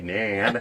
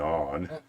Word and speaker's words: naan: from South, you say nan. If you're from the North, you probably go naan. If you're from England, you probably go Yawn. what's that? No, but it's spelled Naan.